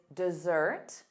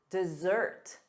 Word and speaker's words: dessert: Dessert. Dessert. Dessert. The syllable stress is on the second syllable.